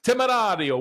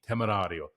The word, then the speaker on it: Temerario: Your buddy CJ wants to get the pronunciation right. Temerario, what are we talking about here? The Lamborghini Temerario.